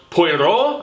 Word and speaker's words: Poirot: it had more of a purveyance of whimsy, I think, which isn't bad because, Poirot, I think is how you properly pronounce his moniker, this famous sleuth detective, this Frenchie.